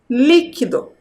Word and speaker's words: líquido: a leitura dessa palavra líquido qual é o sou mais forte qual é a sílaba mais forte dentro dessa palavra é a sílaba li a primeira sílaba então também vocês deveriam